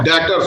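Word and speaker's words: debtors: आप उसे टोकेंगे नहीं, डेब्टर नहीं होता, डेटर्स होता है। करेक्ट प्रोनाउंसिएशन होती है डेटर्स, बी साइलेंट होता है।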